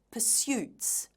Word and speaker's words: pursuits: The candidate used the word pursuits. Notice how the stress is on the second syllable, pursuits.